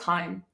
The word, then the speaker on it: hime: This was when I like had black hair and like a hime cut, and Is that how you pronounce that? I thought it was Hime.